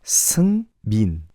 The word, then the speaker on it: Seungmin: Yes, it's closer to M-E-A-N than M-I-N, if that makes sense. So, Seungmin.